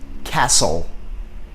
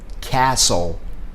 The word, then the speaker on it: castle: Ouça e repita: castle. Observe como é feita essa divisão. Nós vamos dividir entre a letra S e a letra T. Só que observa que esse T não é pronunciado. Castle.